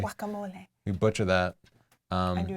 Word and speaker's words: guacamole: mean guacamole yeah yeah it's actually guacamole you're right gua is supposed to be pronounced like a w usually guacamole you butcher that and